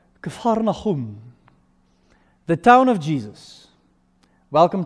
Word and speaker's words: Capernaum: It's pronounced Capernaum, the town of Jesus.